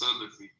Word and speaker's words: Salafi: No, I was saying it's pronounced Salafi.